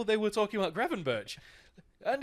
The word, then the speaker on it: Gravenberch: wanted to pronounce Ryan Gravenberch's name. Gravenbach, Gravenbeck, Gravenbeek, Gravenbeach, it's Gravenberch. It's fucking Gravenberch.